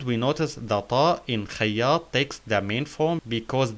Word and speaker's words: خياط: We notice the shadda on ya, so we say إي خياط. خياط. And we notice the ta in خياط takes the main form because the previous letter is Alif.